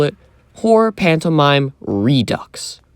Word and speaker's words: Redux: I like to call it Horror Pantomime Redux. Rhymes with gross.